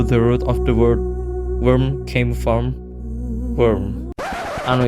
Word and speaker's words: wyrm: a modified version of worm even though the root of the word worm came from worm I know it sounds weird because all of them pronounce like worm the desert worm is